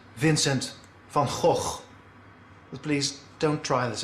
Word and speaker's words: Vincent van Gogh: come on show me the correct dutch pronunciation is vincent van gogh but please don't try